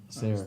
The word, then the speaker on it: Sayre: Sayre.